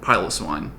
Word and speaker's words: Piloswine: And since I'm adding a bunch of new Pokemon to my Pokedex, I might as well get Piloswine, which is actually how it's pronounced. I watched the anime. Piloswine, go!